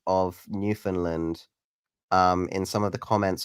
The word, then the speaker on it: Newfoundland: You say Newfoundland. You don't say, uh, instead of found, you're saying fun, basically. Okay. Newfoundland.